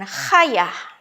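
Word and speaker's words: חיה: Maka diucapkan dengan khayah. Y-nya itu kuat ya, khayah.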